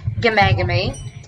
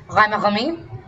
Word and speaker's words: Ghamagami: So, but my last name is pronounced Gamagami. That is the English pronunciation. It is actually an Iranian name, and it's pronounced Ghamagami.